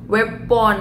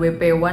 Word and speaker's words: WPONE: minta pertanggungjawaban G ya weapon ya jadi bacanya weapon ya ya bukan wp1 tapi wp1 aja lah